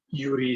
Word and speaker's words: Joeri: so my name is yuri of a russian name actually it's spelled j-o-e-r-i but it's yuri like a russian name i was named after